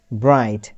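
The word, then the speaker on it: bright: আরেকটা নতুন ওয়ার্ডের স্পেলিং যদি আমরা দেখি, ব্রাইট। এখানে IGHT এই চারটা লেটার মিলে উচ্চারণ হয়েছে আইট, আইট।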